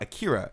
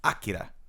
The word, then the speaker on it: Akira: So it's not Akira, it's Akira. Yeah. It's Tetsuo, Kaneda. right? Kaneda, right? And when I grew up, I heard the other translations. It was always Kaneda. It was Akira.